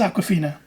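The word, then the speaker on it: Awkwafina: is Aquafina. Her name is spelled like the word awkward. Is it? It's like AWK.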